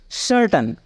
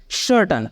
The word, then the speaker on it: certain: जैसे कि सर्टन, CERTAIN, सर्टन। सी के बाद यहाँ पे क्या है? ई है, इसलिए इसका उच्चारण हम कैसे कर रहे हैं? सर्टन, स।